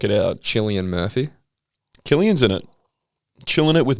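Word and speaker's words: Cillian: out chilly and murphy killian's in it chilling it with murph chilling it he's either chilling it or he's killing it depending on how you pronounce his name killing it every time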